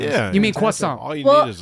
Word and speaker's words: croissant: Coffee and He was croissant.